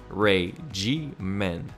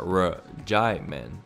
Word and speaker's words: regimen: co-star that it was supposed to be Ray-G-Men, not R-J-Men, to the point that it was almost as if it was regime with the end silent.